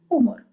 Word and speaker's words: humor: Humor, for example, we write it in the very same way, but we pronounce it as humor.